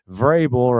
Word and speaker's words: Vrabel: And uh Vrabel right there.